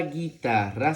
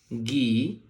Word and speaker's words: guitarra: de la siguiente manera, con una G, luego una U y luego una I, que suena gui. Todo esto junto suena gui. La T con la A suena ta y la doble R con la A suena ra.